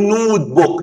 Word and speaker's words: notebook: ما ينفعش نقول نوت بوك.